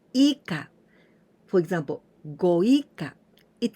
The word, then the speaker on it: 以下: So we pronounce ika.